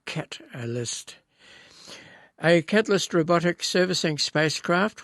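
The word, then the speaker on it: Katalyst: And that Catalyst by the way spelled with a K not a C. K Cat-a-list.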